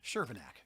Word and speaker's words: Chervenak: Shervinac.